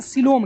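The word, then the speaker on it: coelom: नहीं कर रहे हैं, हम लोग बात करेंगे सिलोम की। किसकी बात करेंगे? सिलोम की बात करेंगे, ध्यान दीजिएगा। हाँ COE, सिलोम। देखिएगा स्पेलिंग भी कैसे है इसका।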